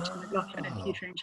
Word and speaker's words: McLaughlin: Well, it's McLaughlin, right? That's how you No, pronounce it? when I married my husband, he's American, and so they pronounce it McLaughlin. But in England, it would be McLaughlin, and so I said I'll change my name